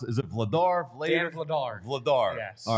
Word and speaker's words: Vladar: How do you pronounce? Is it Vladar?